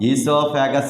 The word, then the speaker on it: esophagus: Esophagus is also known as what? Food pipe. In esophagus, O is the silent letter. That's why we pronounce like esophagus.